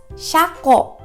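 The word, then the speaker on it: 車庫: It is pronounced as shako.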